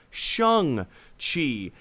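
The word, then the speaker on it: Shang-Chi: official answer is even though it's spelled s-h-a-n-g pronounced shang chi and i'll be honest uh it's this is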